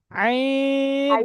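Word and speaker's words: ع: গইন, আইন, গলার মধ্যখান থেকে উচ্চারণ করেন, আইন।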